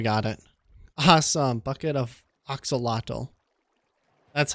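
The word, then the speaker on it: axolotl: Bucket of oxalotl.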